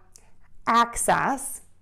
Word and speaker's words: access: We have access, and syllable number one is going to be ak.